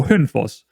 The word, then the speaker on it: Hønefoss: more so try and just say it how you would say it in Danish, because I think it would sound a lot better just saying it in native Danish than I would try to pronounce it in some kind of Norwegian way.